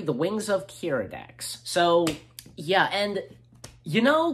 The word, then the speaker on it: Keeradaks: So, Episode 3, The Wings of Keeradaks.